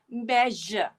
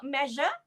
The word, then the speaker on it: measure: yes the word is i said the word measure wrong i said it wrong it should be measure measure what are the sounds in the word measure now let's polish our